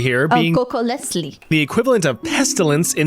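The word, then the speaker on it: Cocoliztli: If you watched my video about surviving the Aztec Empire, you know that funny little TL pronunciation, the sound, is on purpose.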